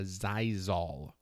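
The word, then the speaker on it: Xyzal: another thing too is a zyol zyol uh it's spelled x y z a l uh Z why there's an X in there I couldn't tell you it's like a medicine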